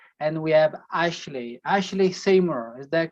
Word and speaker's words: Ashleigh Seymour: adventures as i said and we have ashley ashley seymour is that correct that is correct pronounced properly pretty good pretty good okay i'm